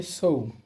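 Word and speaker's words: そう: এরপরের শব্দ হচ্ছে সৌম। কিন্তু এখানে উটা উচ্চারণ হবে না। কেন? আমরা জানি ও ধ্বনির পর উ থাকলে উচ্চারণ হয় না।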